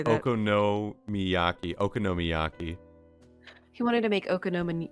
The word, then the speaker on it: okonomiyaki: Okami how do you say that okono Miaki okonomiyaki he wanted to make okoma Miyaki one day